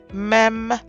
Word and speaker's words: mem: light numerical value 30 meem has two forms also it is the 15th letter it is pronounced as M as in mac and its numerical value